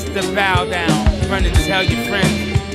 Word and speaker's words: baüdaün: My music project is called The Baudaun, spelled like the Bauhaus.